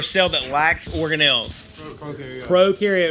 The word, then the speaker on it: prokaryote: that lacks or Nell's prokaryote remember pro rhymes with no bro rhymes with no